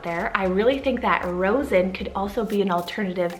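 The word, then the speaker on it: Rozen: So for the letter R now, I have the name Rosen, so spelled R-O-Z-E-N.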